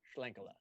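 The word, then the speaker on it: Schlenkerla: in terms of smoke beers again can you pronounce that brewery i've been saying it wrong for a long time right yeah s-s-c-h-l-e-n-k-e-r-l-a shlenkola smokey that's talking to buying some of that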